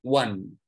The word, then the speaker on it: one: ya kadang inilah menariknya bahasa Inggris artinya satu pengucapannya one tulisannya oney artinya cie yaitulah bahasa Inggris unik